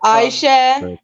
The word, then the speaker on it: Aisha: that is very Iranian, the way you pronounced it. Exactly. They like to drag the word like Aisha.